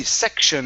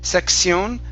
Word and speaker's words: section: the T-I-O-N, Oscar, okay, when you have the T-I-O-N, we do not say sion. Ah, yeah. It's pronounced shun. Okay? Section. Yes. Yeah, so this is going to be section instead of section, section.